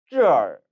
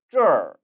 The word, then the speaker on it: 这儿: 그래서 발음을 这儿 얼이 아니라 这儿 이라고 발음되는 것이죠.